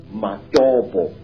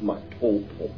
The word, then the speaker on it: Matobo: And one of these parts of Africa, sir, is a remarkable place called the mountains of the round rocks, Matobo, wrongly pronounced Matopo in Zimbabwe.